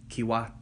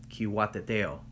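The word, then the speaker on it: Cihuateteo: to pronounce this correctly key wat no Q wat the tail okay so the key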